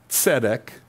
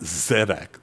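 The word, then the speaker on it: tsedek: means king in Hebrew sedek like TS not zedek with a z but a TS etic t-s-e-d-e-k that's kind of how you'd spell it King melak King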